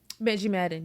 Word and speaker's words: Benji Madden: Benji Madden, yeah.